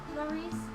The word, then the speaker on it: Laurice: Laurice? Don't him. Don't him. That's how I pronounce it.